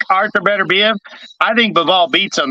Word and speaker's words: Beterbiev: But just throwing, I don't think fighting elite fighters like David Benavidez and Arthur Beterbiev, how you pronounce his name? Beterbiev.